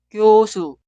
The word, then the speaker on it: 교수: La palabra entera se pronuncia 교수, 교수, 교수.